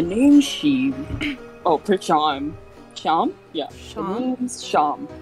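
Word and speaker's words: Seam: Sham? Yeah. Sham? The name's Sham. Oh, pronounced it's like Sean.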